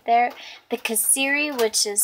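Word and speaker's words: kasseri: The kaseri, which is spelled K-A-S-E-R-R-I, is fantastic, and it melts, and these are going to be so good with biscuits and gravy.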